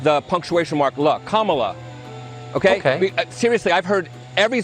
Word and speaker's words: Kamala: to see her be respected her name is pronounced Kama like the punctuation mark La Kamala okay seriously I've heard every sort of mization